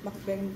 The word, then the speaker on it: mukbang: Mukbang videos, you know? Mukbang! Mukbang. Oh, you pronounce it mukbang. Yeah, because muk is like eating, mm-hmm.